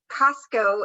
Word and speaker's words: Cusco: Cusco is the correct pronunciation.